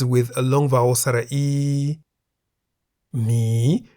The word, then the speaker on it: หมี: Mi begins with a high-class consonant ho heb, and therefore based on the tone rules for a live syllable, mi is in the rising tone.